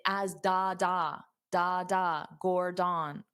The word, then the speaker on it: Gordon: So you have to pronounce the gore louder and longer and then the den very fast.